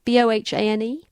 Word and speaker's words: Bohane: Do you think you pronounce that? Bohane? Sounds about right.